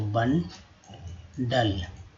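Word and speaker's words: bundle: गट्ठर का होगा बंडल, फिर यहाँ भी यू अ के रूप में उच्चारण किया गया, तो बंडल।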